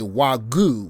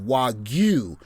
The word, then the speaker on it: wagyu: So we say wagyu, which is a mispronunciation of wagyu, which means harmonious beef, but it really just means Japanese beef.